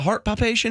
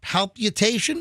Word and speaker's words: palpitation: Do you know what a heart palpation is? Oh yeah. I was getting a heart palpitations. Dude, it's got an extra syllable in there.